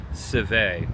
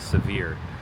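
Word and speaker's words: Sevier: The name is actually French and it should be pronounced Seve, but everyone says Sevir.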